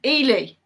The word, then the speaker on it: Ely: you half a point oh i've pronounced eli wrong it's it's ely ely see i don't even know